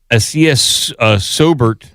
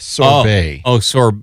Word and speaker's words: sorbet: So the blood red beverage, which hit select stores on Wednesday, blends Sobert strawberries. What am I mispronouncing here, Cratchit? Acai sorbet.